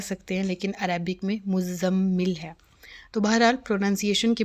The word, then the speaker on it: مزمل: اوپر تشدید ہے اور زا کو بھی مشدد ہی پڑھیں گے میم کے ساتھ ملا کے، مزمل نہیں مزمل۔ اور بعض جو ہیں